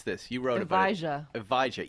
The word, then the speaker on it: Evija: pronounce this you wrote evija e like a but with a J exactly like Eve you know Adam and Eve like the first ohage what's with all